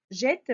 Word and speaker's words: jette: Alors, jeter, la même chose, on va dire jeter, jette, pardon. Elle jette. Alors, pour prononcer E, on doit doubler la consonne T.